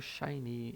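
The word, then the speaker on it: 샤이니: Mas ainda bastante famoso nos dias de hoje, o SHINee. E como é que a gente pronuncia SHINee em coreano? Vai ficar SHINee, SHINee, SHINee, SHINee. Vejam que tem o som do Ya aqui, né?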